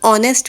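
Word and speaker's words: honest: इसमें H silent होता है तो इसको हम ऑनेस्ट पढ़ते हैं।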